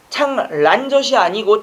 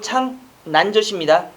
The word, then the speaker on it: 창난젓: 여러분들 창란젓이 아니고 창난젓입니다. 어른들 발음은 전부 창란젓인데 창난젓이 맞고요.